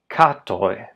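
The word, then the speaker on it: katoj: I'm not underlining the syllable necessarily that contains the diphthong. The word for cats is katoi.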